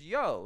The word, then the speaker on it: Jo: name was j-a-n and j-o j-a-n was the guy's name it was Yan and j-o was the woman's name her name was yo it's Yan and yo it was not you they don't even pronounce the J sound there and it's kind